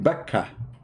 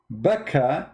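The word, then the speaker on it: Bakkah: see it makkah became bakka makka became baka but how that can be you cannot change the name the answer is very simple becca is how it is pronounced for some people makkah it's how it's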